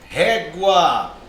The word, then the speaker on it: régua: Outro exemplo mais claro aqui, ó, régua. Perceba, ó, sílaba tônica é o ré.